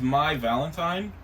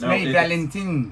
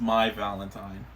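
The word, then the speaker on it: Mai Valentine: against each other they're Duelists okay this is my valentine yes it's a play on words oh I think I was I was looking at it it's May it's May Valentin no it's in the show it's pronounced my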